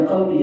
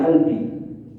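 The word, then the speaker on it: قلبي: Qolbun huruf qf itu dibacanya alif. Jadi qbun albud ya ee ya qalbi ya albi.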